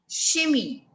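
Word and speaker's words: chimie: pronunciation of this one chemistry is pronounced as shimmy it is called shimmy ch is sure yes c-h-o-i m-i-e this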